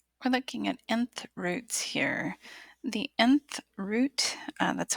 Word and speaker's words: nth root: we're looking at nth roots here the nth root that's how it's pronounced looks like this the N that's there